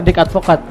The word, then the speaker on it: Dick Advocaat: Bacanya gitu enggak? Bacanya benar Dick Advocaat.